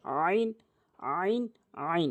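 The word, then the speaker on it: عين: নিয়ম সহকারে বলব ইনশল্লাহ আইন হলকের মাঝখান থেকে চাপ দিয়ে আইন আইন আইন এভাবে বলতে হবে এরপরে এরপরে আলাদা আলাদা করে অক্ষর মানে উপরে একটি করে নোক্তা থাকবে।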